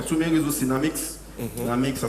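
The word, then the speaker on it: Naamix: Namix, ça s'écrit avec du A.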